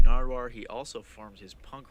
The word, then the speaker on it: Nardwuar: napkins so I became nardoire oh yeah the human serviette okay okay he's not saying it right say it right damn here he became narwar he also forms his